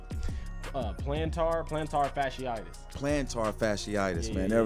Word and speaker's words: plantar fasciitis: do you call it, plantitis pholitis. Yeah. I think it's plantar fasciitis.